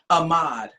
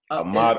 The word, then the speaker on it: Ahmaud: Ahmaud. Ahmaud.